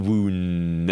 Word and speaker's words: wound: mean you're wrong tally it's not the wound it's the wound you need the right pronunciation virtue now you've got